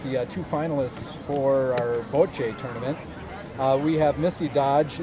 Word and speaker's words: bocce: Bocce? Bocce.